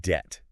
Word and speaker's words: debt: And how about debt? That B is just along for the ride.